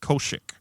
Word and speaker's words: Koshik: Koshik. Kosik, but it's pronounced Koshik.